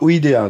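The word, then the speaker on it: -idae: ça se finit par Ida donc ça on sait que c'est une super famille la famille c'est toujours idin id a e mais on prononce ID la sousfamille c'est iné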